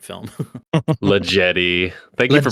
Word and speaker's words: La Jetée: Le Jetty. Thank you for pronouncing it correctly.